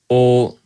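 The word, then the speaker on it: を: This is wo, but it's pronounced also o yomu koto ga daisuki de.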